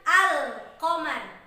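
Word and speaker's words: القمر: huruf Alif Lam Qomariah maka disini ketika diucapkan al-qamar Ya huruf lam yang terdengar dengan jelas dan diatas huruf allang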